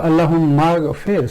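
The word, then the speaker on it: اللهم اغفر: This is Hamzatul Wasl, so it's there in writing, but it's not pronounced. So Allahumma ghfir, so there should be kasra here, maghfir, and that's correct sarf, maghfir.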